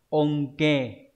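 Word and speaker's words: 恩恵: Ân huệ đọc là onke.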